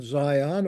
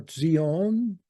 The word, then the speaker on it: Zion: that one Mount offel the original Zion or Zeon correctly pronounced the new Zeon and